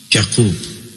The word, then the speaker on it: Yaqub: He was introduced to us as Prince Yaqub, pronounced Yaqub, as in Hebrew.